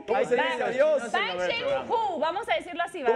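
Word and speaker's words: 放学后: Fan Xiao Hou. Para mí, Fan Xiao Hou. Puede ser. A ver, producción, ¿cómo se pronuncia? Fan Xiao Hou.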